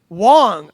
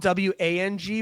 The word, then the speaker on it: Wang: And then Ben Wong. I think it's Wong. It's it's spelled W A N G, but I think it's pronounced Wong.